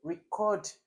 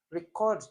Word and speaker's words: record: Okay, so that would be record. Record has the stress where it should be. That's on the RE, the first syllable.